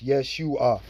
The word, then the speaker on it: Yeshua: Now, based on those vowel points, it's Yeshua. Okay. There were no E's or A's. This is the uh best pronunciation that we have.